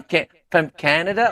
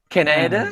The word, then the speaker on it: Canada: From Canada or Canada? Canada. Canada. Canada. Okay. The stress is on the first syllable. A can, as in can and nada.